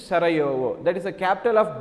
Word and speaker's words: Sarajevo: Actually spelling is J-E-U-O, the pronunciation is Sarajevo.